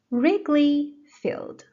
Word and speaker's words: Wrigley Field: Wrigley Field. Wrigley Field. The stress is on the first syllable, Wrigley. Please repeat after me a few times.